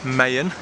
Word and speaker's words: Maya: learned something today guys apparently you don't say Mayan it's actually Mayan and even then apparently it's it's not Mayan it's Maya so I'm so confused